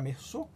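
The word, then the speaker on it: Meursault: E alguns desses personagens, a exemplo do próprio Mersô, com um nome pouco diferente, a grafia era um pouco diferente, mas a pronúncia era Mersô.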